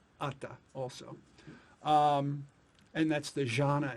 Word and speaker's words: Atta: In something like Atma or Atta? Atta. Atta. Yeah. Yeah. So in the Buddhist dialect that the Buddha spoke, which is called Pali, it's Atta also.